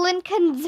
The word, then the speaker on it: Lincoln: Abraham Lincoln's Face. Who can tell us something about the real Abraham Lincoln? Miss Daisy asked after Mr. Macky left with his hat and beard. Lincoln rhymes with stinkin', I said.